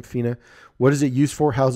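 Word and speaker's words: FENa: Smith weigh use an ideal body weight and then what is the fractional excretion of sodium it's pronounced a FINA fractional excretion of sodium FINA what it used for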